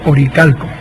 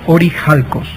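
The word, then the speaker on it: ὀρείχαλκος: oído hablar del famoso oricalco Esa es la pronunciación digamos latina o que está mal pronunciado porque en en griego es orij alcos y orij alcos en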